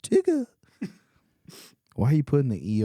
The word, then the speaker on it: Tigger: It's pronounced Tigger.